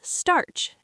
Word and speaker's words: starch: It's pronounced starch, and it rhymes with the word march.